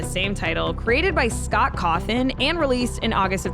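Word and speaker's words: Cawthon: title created by Scott coffin and released in August of 2014 I always thought it's a little Eerie that his last name rhymes with coffin but I mean listen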